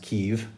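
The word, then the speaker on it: Kyiv: a mission uh and I was called to Kiev Ukraine um now mostly pronounced Kev which is the Ukrainian pronunciation versus KV which is more of the Russian pronunciation and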